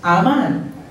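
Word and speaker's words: אמן: amen it's spelled a m a n it's pronounced amen amen it means to be firm stable established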